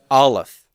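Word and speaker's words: אלף: the first letter is the letter aleph say that with me olaf aleph okay so olive is the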